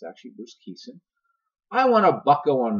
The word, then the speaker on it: Bruce Kison: pirate broadcaster pronounced aqui sin I've heard of pronounced caisson it's actually Bruce Kison I want to buckle on my team so